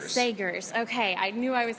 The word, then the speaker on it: Sagers: Sagers. Sagers.